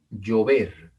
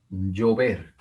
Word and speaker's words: llover: Acá tenemos otra palabra, una palabra aguda, una palabra que tiene el acento en la última sílaba. Llover, llover.